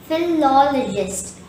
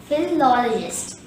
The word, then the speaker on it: philologist: four syllables feet long the stress is on the second syllable law and there are two schwas in this world therefore the correct pronunciation will be philologist philologist repeat after me philologist